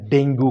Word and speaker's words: dengue: आज हम लोग बात करने वाले हैं डेंगू के बारे में, और डेंगे भी बोला जाता है इसको प्रोनाउंस राइट।